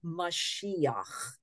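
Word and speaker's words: מָשִׁיחַ: we have this word mashiach which is the Hebrew for messiah messiah is like the greeked way of pronouncing this word I guess they didn't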